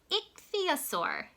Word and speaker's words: ichthyosaur: "It is called an ichthyosaur," the man told her.